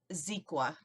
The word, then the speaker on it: Xequa: And his name is Zequa, and that's spelled Xequa.